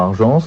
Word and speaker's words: Argence: Je prononce bien je crois Argence. Tout à fait. C'est cela.